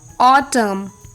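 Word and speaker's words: autumn: एंड the rule is एन is often silent when following M एट द एंड ऑफ a word last में जब एम आता है तब N silent होता है जैसे ऑटम एच वाई एम एन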